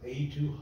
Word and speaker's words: A2: And the other one is called A2, it's like the letter and number, A2 Hosting.